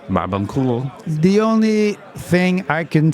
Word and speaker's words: Barbancourt: Well, the first thing I'll say, it's pronounced Barbancourt. Barbancourt.